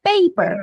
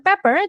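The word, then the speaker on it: peper: Jadi bacanya paper. Bukan pepper tapi paper gitu ya.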